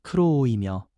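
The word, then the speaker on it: κρούω: 여기서 두드리다라는 헬라어 발음은 크로오이며 계속 두드리며 인내하는 모습을 담고 있습니다.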